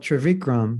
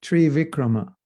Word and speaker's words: Trivikrama: So then, as we know, he's called Trivikram. He's only taken 2 steps, but Trivikrama means 3 steps. И Ваманадева называют Тривикрамой, что означает, что он забирает 3 шагами. Yeah, it's actually Trivikrama.